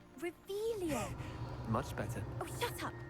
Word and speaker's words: Revelio: Rebellious. You're saying it wrong. Ugh, Revelio.